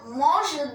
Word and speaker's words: mange: But when we say je mange de la viande, I am eating some mutton,